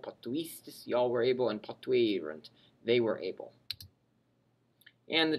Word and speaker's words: potuerunt: Although they both have the same letters, the past tense has a U or a hiatus or a split. So if you say it correctly, you will hear the difference. Potuerunt.